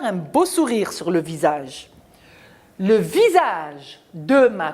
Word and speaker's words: visage: Alors, visage, on a le S entre deux voyelles. Il se prononce ZE, donc je mets I-A entre le S entre le I et le A se prononce ZE.